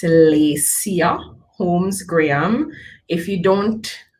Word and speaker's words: Laycya: happy to have you here so i am lacia holmes graham yes it's kind of long so i'll say it again it's lisia holmes graham if you don't uh if you